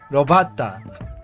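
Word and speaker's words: 炉端: I think the zero exposure to Japanese rules are that you see BATA, you just pronounce it very similarly to butter. So robata. But the thing is, butter doesn't even have that elongation, like bata. Like butter in Japanese is just bata, but this one is just bata, robata.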